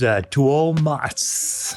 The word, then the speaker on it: Tuomas: After that is Tuomas. Thank you for pronouncing the U.